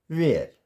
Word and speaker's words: where: H is silent if the word begins with WH। Simple है कि अगर word किससे स्टार्ट होगा, WH से स्टार्ट होगा, तो वहाँ पर H जो है साइलेंट हो जाएगा। जैसे WHAT, वट, इसको वहट नहीं पढ़ेंगे, what. WHY, वाई। WHITE, वाइट एंड WHERE, वेयर।